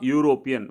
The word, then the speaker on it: European: The correct answer is a European. Whenever you pronounce this word you, so that is that has a YU sound.